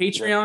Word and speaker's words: Patreon: Patreon, yeah.